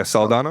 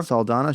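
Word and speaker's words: Saldana: saladan how do you say her name yeah salana salana she won best actress so I didn't watch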